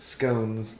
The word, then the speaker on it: scones: need to discuss anymore it should be pronounced scones like stones and phones and garden gnomes don't